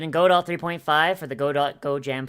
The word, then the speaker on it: Godot: uh this is gonna go dot is pronounced godo okay all right okay